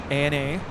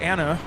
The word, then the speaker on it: ANA: in the pawn Airways is an acronym as well Ana so it's not Anna I've never heard anybody